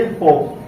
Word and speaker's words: hope: ठीक, अब इसको हम पढ़ेंगे ओ, और इस ई का कोई उच्चारण या कोई साउंड नहीं होगा।